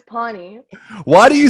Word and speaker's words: pani: to pronounce the word so we need to put like like bonnie with a p then pony but then